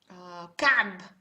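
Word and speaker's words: كعب: So let's try with Ka'b.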